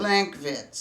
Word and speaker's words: Lankwitz: It's in a place called Linkwitz, or Linkwitz. Lankwitz. That's how you say it.